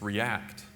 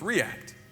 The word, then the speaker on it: React: Did you know that when it's a verb, it's react? When it's a pronoun, it's react. You're supposed to pronounce the first syllable as the accent. So it's react.